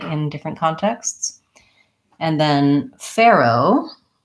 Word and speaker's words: Pharaoh: different contexts and then Pharoah is the way I would pronounce Pharoah with an again tense a with the air diphthong Pharoah again I'm not